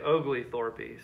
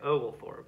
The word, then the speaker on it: Oglethorpe: name of james oglethorpe i like to say ogleythorpe so i'm going to say that but that's not how you say it you're actually supposed to say oval for it but i like saying